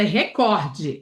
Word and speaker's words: recorde: E a palavra recorde é uma palavra paroxítona. Recorde é a pronúncia do inglês. Em português é record, a sílaba tônica é cor.